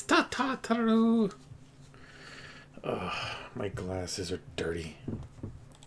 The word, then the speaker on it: Tataru: It's Tataru.